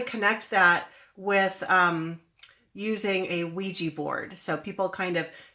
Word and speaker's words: Ouija: So a Ouija board, it's spelled O-U-I-J-A, Ouija board. It looks like a Ouija board, but it's pronounced Ouija board.